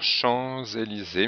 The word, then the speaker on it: Champs-Élysées: Ici, on fait la liaison obligatoire Champs-Élysées, mais le S final est muet.